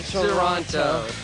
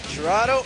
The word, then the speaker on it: Toronto: Toronto, A. Toronto. But no one says the two. They'll say it wrong. They'll say Toronto. Not Toronto. Not Toronto. Oh, Toronto.